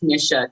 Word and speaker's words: Tanisha: me so long now my name is pronounced tanisha tanisha tanisha i know i always